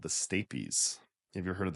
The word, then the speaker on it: stapes: about do you spell St a PES so stapes but it's pronounced stapes weird okay it's it's also called